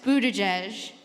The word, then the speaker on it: Buttigieg: For future reference, it's pronounced Buttigieg, That's helpful, thank you.